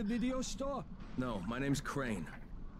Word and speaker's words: Crane: No, my name's Crane. Crane? Crane rhymes with train and brain and sane and grain and rain and plane and the other kind of plane.